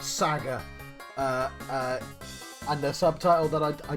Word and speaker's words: SaGa: But yes, I should get the pronunciation. I know it's Saga. It's Saga. I'm playing Saga.